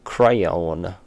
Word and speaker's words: crayon: Crayon is pronounced like crown. Everyone knows that. Crayon.